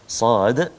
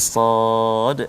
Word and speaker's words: صاد: Jadi Sad, ada yang orang baca Sad je, Sa macam tu je. Cara baca dia kena ikut tulisan asal dia. Sad alif dal.